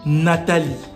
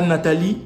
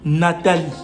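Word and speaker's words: Natali: Et se dit Nathalie. Pas Nathalie, Nathalie.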